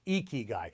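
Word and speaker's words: 生き甲斐: The Japanese call it ikigai, pronounced ikigai, and it means your reason for being, the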